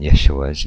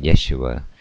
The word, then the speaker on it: Yeshua: The translators of the earliest versions of the English Bible transliterated the Sere in Yeshua with an E. Unfortunately, later, English speakers guessed wrongly that this E should be pronounced as in me, and thus the first syllable of the English version of Yeshua came to be pronounced G instead of Ye.